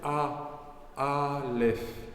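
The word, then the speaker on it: אלף: lamed P Alf alors ce que vous entendez quand je parle c'est a àf je commence avec une voyelle mais les voyelles ne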